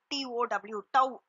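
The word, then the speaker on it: τ: Just டவ் அது எப்படி நீங்க ப்ரொனவுன்ஸ் பண்ணனா டவ், TOW டவ் அப்படின்னு ப்ரொனவுன்ஸ் பண்ணணும். சரிங்களா?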